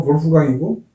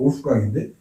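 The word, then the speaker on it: Wolfgang: 우리나라에 그 이제 거기서 수석 주방장 하시던 볼프강이라는 그 독일식 발음하면 볼프강이고 영어식 발음하면 올프강인데 이 양반이 올프강 스테이크 하우스라고 이제 개업을 했는데 그거 우리나라의 청담동에도 있어요.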